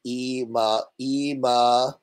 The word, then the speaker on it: Ema: It's pronounced a long Ema.